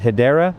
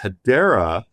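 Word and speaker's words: Hedera: And I'm going to mispronounce this, but Hideera, is that a correct way to say it? Yeah, Hideera is one that we also really like and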